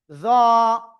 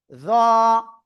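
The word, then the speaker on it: ظ: এই অক্ষরটা আপনার মোটা আওয়াজে উচ্চারণ করতে হবে। উচ্চারণ হবে এরকম, জ এক আলিফ, জ জ, ঠিক আছে, জ জ, সবাই একসাথে জোরে জোরে বলেন, জ ওকে।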